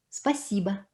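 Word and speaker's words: спасибо: l'accent il tombe sur lie donc nous on prononce à padash dit l'adage dit attends spassiba spassiba voyez à la fin c'est carrément à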